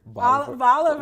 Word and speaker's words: Bolivar: Boulevard, like Oliver, Bolivar, and Bolivar, Tennessee. You did a performance, basically telling people about the Hortai organization.